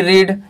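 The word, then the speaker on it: read: होता है, पढ़ना, और सेम स्पेलिंग होता है यहां पर रीड और रीड, लेकिन इसको यहां पर आपको पढ़ते हैं रेड, क्या पढ़ते हैं रेड, और वन नंबर में इसको रीड पढ़ा जाता है, क्या पढ़ा जाता है, स्पेलिंग सेम लेकिन पढ़ना प्रोनाउंसिएशन अलग होगा।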